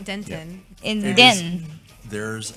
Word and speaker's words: Denton: We also pronounce the T in Denton. It's Denton.